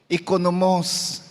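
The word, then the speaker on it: οἰκονόμος: Oikonomos. So pagiging katiwala. Faithful and obedient. Steward. Nung nasa Ilocos ako, mayroon akong nadestinuhan na mga simbahan. Yung oikonomos mo, actually ang pronunciation nila doon, ikonomos sa mga Ilocano.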